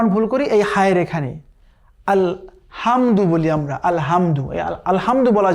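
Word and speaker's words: الْحَمْدُ: তো আমরা অনেকেই বলি আলহামদু, আলহামদু বলা যাবে না, কেমন? বলতে হবে আলহামদু। হ্যাঁ, ওই যে সফট হা পড়েছিলাম কিছুক্ষণ আগে আমরা, ওই হা উচ্চারণ হবে।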